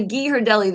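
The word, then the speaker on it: Ghirardelli: those chocolates you know the gee her Deli the G her Deli you know what I'm talking about it's spelled weird and sound is weird but it's those chocolates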